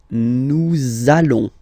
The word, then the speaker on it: nous allons: link between the words, so it does mean that you will have to pronounce this z sound, okay? Listen to me. Nous allons.